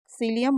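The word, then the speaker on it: Cillian: है ओपेनहाइमर और अभिनेता सिलियम मर्फी या कहीं-कहीं किलियन मर्फी भी लिखा है क्योंकि इंग्लिश में स्पेलिंग सीआई से स्टार्ट होती है तो किलियन मर्फी या सीलियन मर्फी दोनों एक ही हैं और इनको ओपन हाइमन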